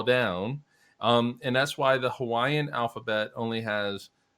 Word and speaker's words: Hawaii: mockingly eat musk alii you actually pronounce both eyes as like yeah Hawaii so in this